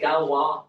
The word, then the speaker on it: Galois: It's called Galwa theory. So uh that's how it's pronounced.